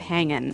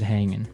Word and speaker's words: hanging: Yeah, but usually you don't really pronounce the G in this context because it's very informal. So, how's it hanging? How's it hanging?